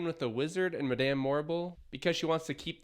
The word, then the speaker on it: Morrible: Madame Morrible. Rhymes with horrible.